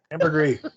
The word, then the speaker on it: ambergris: about ambergris again yes ambergris over i couldn't say oh the s is not pronounced hey jeff did you